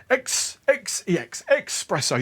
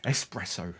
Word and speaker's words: espresso: You've got to really pronounce the expresso. I know. The joke's going to wear thin soon, isn't it? Oh, let's see how many haters we can get. Espresso, all right?